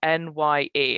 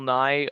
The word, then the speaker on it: Nye: week is it's called the end is nigh uh but that is spelled n-y-e and it was ordered